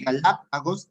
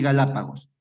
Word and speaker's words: Galápagos: Cuando se acentúe en la ante, sí, puede ser en la antepenúltima sílaba o en la tercera tercera sílaba contando desde el final.